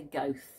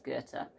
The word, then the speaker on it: Goethe: I always used to say Goethe, and I imagine a lot of British people say Goethe, but I'm pretty sure it's Goethe.